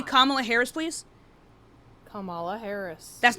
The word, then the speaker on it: Kamala Harris: Her name is Kamla Harris, not Camala Harris. Right. You're putting the emphasis on the wrong part of the word.